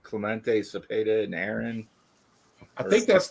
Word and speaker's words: Cepeda: Yeah, Cepeda. I didn't want to pronounce it wrong in case he's watching.